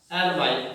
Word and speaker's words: hourly: कुछ word silent होते हैं जैसे हावर, ऑनेस्टली, इनके अंदर एच वर्ड होता है जो साइलेंट होता है, देख लीजिए he is blank hour, HOURLY, hourly, late।